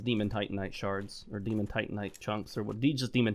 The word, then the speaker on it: Titanite: Want those Demon Titanite shards, or Demon Titanite chunks, or what? Just Demon Titanites. Titanite, I think is how it's supposed to be pronounced. Titanium, Titanite.